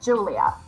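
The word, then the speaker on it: Giulia: say your name wrong it's easier than you think it is it's Julia it's the Julia it's the Italian version of yeah it's the Italian version of Julia it's very popular here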